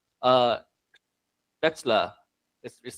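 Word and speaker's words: Spätzle: He drove a few hours to our place and he showed us how to make a dish called uh Spetszla. This is spelled sp auml uh ztl eetsla.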